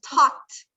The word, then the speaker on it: talked: Por ejemplo, talked. ¿Se escuchan una T cuando pronuncio la ED? O sea que no estoy diciendo talked, estoy diciendo talked.